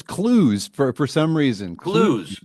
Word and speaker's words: Clowes: Close? It's clues for some reason. Clues. Clues. It looks like clothes, but it's clues.